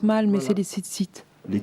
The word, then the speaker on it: tzitzit: Oh, je les prononce mal, mais Voilà. c'est les tzitzit. Les titites.